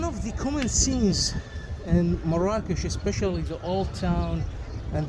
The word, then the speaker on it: Marrakech: you to have additional appreciation for mores that's how it's pronounced by the way in the country M rakes it's absolutely